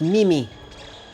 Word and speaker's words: Mimi: It's pronounced Mimi. I did actually pronounce it memes, but that's because I did not know that.